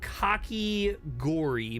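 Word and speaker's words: kakigori: So, cocky gory, but not spelled like that.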